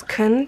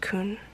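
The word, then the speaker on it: Kun: that was cool okay I always pronounced it as kin because that's what it looks like in like English but I think it's actually pronounced Khun look at my night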